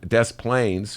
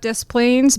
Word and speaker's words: Des Plaines: Moreland from the plane Des Plaines scuse me I gave it a French pronunciation is imploring Illinoisans to